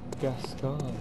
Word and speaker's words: Gascoigne: So yeah, Gascoigne. It's pronounced.